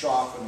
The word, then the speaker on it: Choffin: By the way, it's pronounced Choffin according to the people who run the trust, and I suspect they would know.